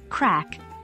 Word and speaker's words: craic: Ireland slang and colloquialisms crack pronounced crack meaning fun or entertainment Ichi what's the crack